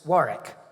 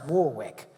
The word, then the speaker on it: Warwick: But when Les Deux finally closed in 2010, Sylvan opened another club and called it Warwick, which the Americans pronounce Warwick.